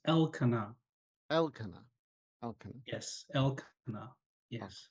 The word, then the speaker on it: Elkanah: Now, there is a little stress on the first syllable, the EL. So it's Elkanah.